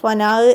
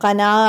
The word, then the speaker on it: കനാഹ്: കനാഹ് എന്നത് പാഠഭാഗം വീഡിയോ ചെയ്യുമ്പോൾ കനാഹ് എന്നത് ഫനാഹ് എന്നായി പോയിട്ടുണ്ട്. ഉച്ചാരണത്തിൽ വന്നതാണോ ശബ്ദത്തിൻ്റെ പ്രശ്നമാണോ എന്താ അറിയില്ല. ഫനാഹ് എന്നായിട്ടാണ് കേൾക്കുന്നത്. അപ്പോൾ എല്ലാവരും അത് മനസ്സിലാക്കണം. കനാഹ് ആണ്. കാഫ്.